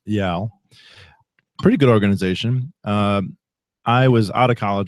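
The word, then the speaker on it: YAL: which is one of the derivative romal organizations pronounced yaal yaal pretty good organization uh I was out of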